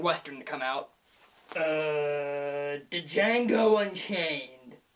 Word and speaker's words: Django: the most recent western to come out uh Django Unchained it's pronounced d Jango the D is silent